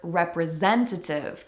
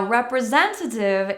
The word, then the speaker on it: representative: Do you remember what I said about a tea that follows an N in the word? Representative we have that spelling and so many fast-talking North American English speakers will cut that tea out and it sounds like Representative representative Another example of